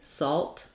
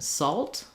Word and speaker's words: salt: And more importantly, salt, one syllable. So solid, you have plenty of time to hear that and the L starts the next syllable, solid. Whereas in salt, I think it's really moving more towards this sound. So you might even think about it like salt.